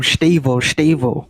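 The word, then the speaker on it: Estêvão: Stavo.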